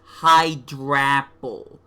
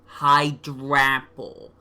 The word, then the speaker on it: Hydrapple: It's pronounced Hydrapple. Hydrapple.